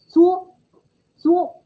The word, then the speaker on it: 作: Last one is pronounced 作,作. For someone who has been learning Mandarin for a while, you might find that Chinese character a bit familiar. And yes, it is also pronounced as 做,做 as we've learned 工作, and also we've learned 作业. When it is pronounced as 做, 第四声, the falling tone, it carries the meaning of work.